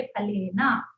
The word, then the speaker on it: फलेन: फला, और आप फा नहीं बोलेंगे, फा बोलेंगे, और अंतिम अज को नहीं छोड़ेंगे, उसको बोलेंगे, प्रोनाउंस करेंगे फलेना, ठीक है।